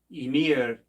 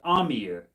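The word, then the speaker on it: Ymir: up the sky and I pronounced Emir as Amir I don't know why I said Amir um I used to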